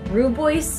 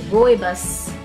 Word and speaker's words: rooibos: a hug I had said that it was rude boys or something and the ingredients and I had